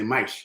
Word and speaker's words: mais: Portuguese, mais is how you say mais, is how it's pronounced, mais que nada.